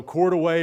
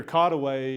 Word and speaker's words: Courtois: they usually did got the pronunciations all out of whack and so court away or caught away is usually how this is pronounced even though we